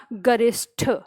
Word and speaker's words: गरिष्ठ: अगला शब्द है हमारा गरिष्ठ गरिष्ठ ध्यान रखिएगा इसमें टी नहीं होता है टी होता है गरिष्ठ बोलेंगे हम गरिष्ठ का मतलब होता